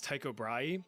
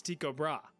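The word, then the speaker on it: Tycho Brahe: Now, trust me, for the life of me, I really want to pronounce this guy's name as Taiko Braay, but apparently the proper Danish pronunciation is Tiko Bra.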